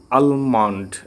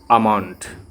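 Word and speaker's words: almond: তারপর এটা আমরা বলতাম আলমন্ড, কিন্তু এলটা সাইলেন্ট থাকবে, হবে আমন্ড।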